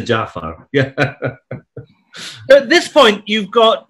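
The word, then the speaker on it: Ja'far: guy as well as mispronouncing him as jafar yes jafar as opposed to jaffa at this point you've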